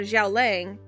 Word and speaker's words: Xiao Lang: Xiao Lang, which Yeah. Which is how his name is is pronounced in Chinese.